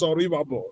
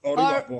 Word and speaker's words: Oribabo: I'm very sorry the real pronunciation is Oribabo. Oribabo. Oribabo. Okay, thank you. Yes, thank you for correcting that. Oribabo.